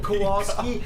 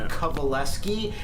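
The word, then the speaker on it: Kowalski: It's actually Kovaleeski and that's spelled the opposite of how it's said or even looked at or heard.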